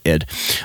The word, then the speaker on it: id: at id software id i'm pretty sure they pronounce it as id um this is the